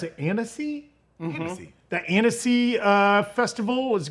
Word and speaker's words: Annecy: How do you pronounce it? Annecy?